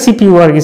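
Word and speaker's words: CPU: সিপিইউ হচ্ছে, ইট ইজ an abbreviation, central processing ইউনিটের abbreviation সিপিইউ, অ্যান্ড is pronounced as separate letters, মানে সিপিইউ আর কি, সিপিইউ আলাদা আলাদা করে প্রোনাউন্সিয়েশন।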